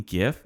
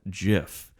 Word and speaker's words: gif: than say well actual it's jif no did you mean gif no actually it's called jiff i don't want to